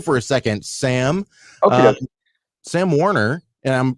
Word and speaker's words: Sam Warner: Sam Warner, and I'm pronouncing that right?